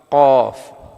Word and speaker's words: ഖാഫ്: അത് നാവിൻ്റെ അങ്ങേ അറ്റവും, അതായത് അണ്ണാക്ക് എന്ന് പറയുമല്ലോ, നാവിൻ്റെ അങ്ങേ അറ്റവും നേരെ മേൽഭാഗവും, അതാണ് അതിൻ്റെ ഉച്ചാരണത്തിൻ്റെ സ്ഥലം. ഇനി നമുക്ക് പറഞ്ഞു നോക്കാം. ഖാഫ്.